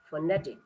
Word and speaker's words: phonetic: That is, second syllable is stress. Even you can pronounce it. Okay, phonetic.